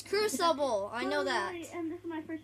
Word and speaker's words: Crucible: said in the video it's called kookabul or whatever you said that's not how i said i said cruel cubicle critical there you know i can say it right it's crucible i know that and